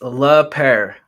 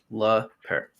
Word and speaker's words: Lapeyre: Yeah, it's la pair. Like like a Yeah, like a pair. Like le pair.